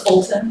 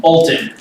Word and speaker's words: Olton: It's Olton, Olton. like Holton without the H.